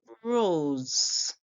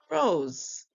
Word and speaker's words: Rose: R makes the sound the O is making a long sound because we have the e the silent E right here right and then we have S making the song s put it together we hear r o Rose so the S before the E is making a song like Z too so we hear Z so we hear r